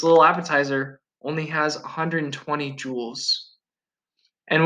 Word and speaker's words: joule: appetizer only has 120 jewels and when i say jewel i don't mean like a diamond i mean it's spelled like this it seemed after scientist